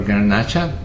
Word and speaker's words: Garnacha: Let's start with Grenache or Garnacha. It's the same grape, different pronunciation. Garnacha is pronounced in Spain, and Grenache is in France.